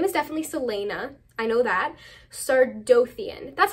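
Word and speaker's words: Celaena: assassin named Selena sardian sardian so scared to pronounce names in this video her name is definitely Selena I know that sardian that's how I always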